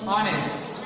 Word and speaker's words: honest: begin with silent h so H silent hon honest example honest and a and